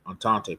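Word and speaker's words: Entente: The allies are also called the antante antante powers.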